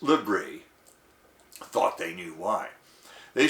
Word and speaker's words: LBRY: content sharing app called lbry pronounced libri thought they knew why